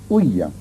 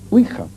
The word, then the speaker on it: ouija: fenómenos, y sobre todo con la huilla, que es así como se pronuncia. Generalmente se dice ouija, pero la verdad es que oui es sí en francés y así se pronuncia, y ja es ya, que es sí en alemán.